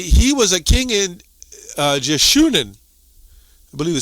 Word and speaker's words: Jeshurun: So we're going to go to this word Jeshurun, I guess that's how you pronounce it. Strong's H3484, Yesharun. Yeshurun. So many ways to pronounce that.